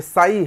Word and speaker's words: psi: ये साई है, साई, साई, शाई नहीं है, साई है।